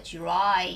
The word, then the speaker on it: dry: 자, 원래 D 발음이지만 DR 같은 경우에는 지읒 발음이 나거든요. 그래서 dry.